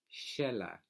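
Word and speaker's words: Xela: biggest city in Guatemala Sheila and in certain countries right the X has that pronunciation because of the roots from indigenous languages that's so a lot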